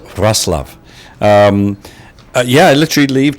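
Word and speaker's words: Wrocław: love somebody told me that it looks like rock law but it's pronounced russl um yeah I literally leave tomorrow fly to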